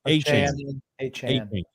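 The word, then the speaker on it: Achane: The other guy, Devin Akine. Is that how you pronounce his name? A-Chain.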